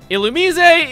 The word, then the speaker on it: Illumise: And before we go onward, yes, the pronunciation is what I am going with. The anime and Pokedex 3D Pro will back me up on this.